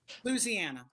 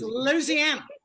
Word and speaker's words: Louisiana: You got to put the word lose into it.